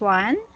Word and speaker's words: won: And next one.